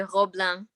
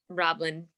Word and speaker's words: Roblin: Well, in French they say Roblin, but Roblin is the perfect English pronunciation.